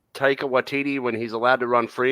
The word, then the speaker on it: Taika Waititi: Taika Waititi. Yeah. Okay, I pronounced it right then.